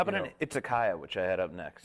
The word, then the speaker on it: izakaya: It's a place to drink sake, an izakaya. Okay. So, or an izakaya, as it's pronounced in the West.